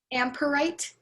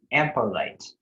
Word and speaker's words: ampelite: Your word is ampolite. Amperite. No, ampolite. Amperite. Ampolite. Sorry, I'm still hearing amperite. Ampolite. If you'd like somebody else to pronounce, you can have that. Ampolite. Yes, that sounds right.